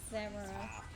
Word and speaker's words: Xero: they were Linkin Park was Zero, but spelt with an X, so like Zero.